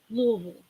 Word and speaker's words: Louisville: 45 minutes south of Louisville and that's how you say it Louisville northeast Oklahoma South Carolina oh there's another person that lives in South Carolina Erica st.